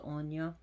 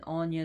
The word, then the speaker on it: Aine: It's called Aine, which is pronounced Anya, or even Anya spelled as Onyanya, Anya.